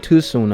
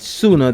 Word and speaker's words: Tsuna: explain why so sooner i keep saying too soon because he got the t in it but sooner the t is silent i apologize um basically